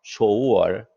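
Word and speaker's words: 首尔: 쇼우얼. 서울을 중국 발음으로는 쇼우얼 이렇게 합니다.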